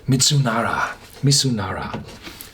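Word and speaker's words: ミズナラ: Mitsunara. The Z is pronounced as an S.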